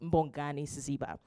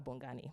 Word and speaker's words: Mbongani Siziba: Her name is Mbongani Siziba. And we're not just allowed to call her Bongani, right?